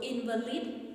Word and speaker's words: invalid: for nearly a year so invalid in this case it has been used as a noun so we are going to stress the first syllable which is the in